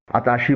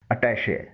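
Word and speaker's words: attaché: اسے اردو میں عام طور پر اتاشی بولا جاتا ہے. انگلش میں اس کی صحیح پروننسیشن ہے اٹیشے.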